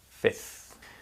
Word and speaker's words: fifth: fourth fifth so with fifth although it's spelt with an f in the middle most people don't actually pronounce that letter so to make it